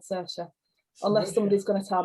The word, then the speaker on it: Saoirse: Well, you can imagine the fun I had with that one, but I did eventually find out she's called Saoirse, unless somebody's going to tell me I'm wrong.